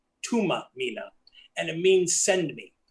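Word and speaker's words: Thuma Mina: And it's pronounced, it says Thumamina, but it's pronounced Tuma Mina, and it means send me.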